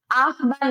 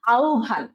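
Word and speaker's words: আহ্বান: না দক্ষতা ঠিক আছে আহবান না আউভা ঠিক আছে তো তোমরা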